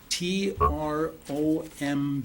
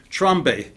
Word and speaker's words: Trombe: his name is trom t r o m b that's French they pronounce it trom trombe is the way I